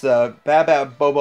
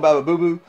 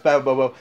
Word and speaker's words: Baba Bobo: It's Baba Bobo. I call him Baba Boo Boo, which I say it wrong, I'm sure, but it's Baba Bobo.